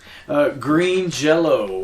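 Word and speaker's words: Green Jellÿ: Green Jello with a Y, but pronounced Jello. Yeah. Because they got sued by the Jello Corporation. It's pronounced like the German way, like Jello. But yeah, Green Jelly is going to be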